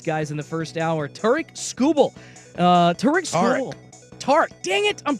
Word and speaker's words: Tarik: But Tarik is the traditional pronunciation.